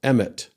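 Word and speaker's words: אמת: So Aleph Mem Tav is pronounced emet.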